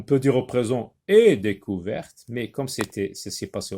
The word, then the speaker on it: découverte: J'ajoute un E, découverte. Donc le T maintenant se prononce. Tout à l'heure on a dit découvert, maintenant découverte.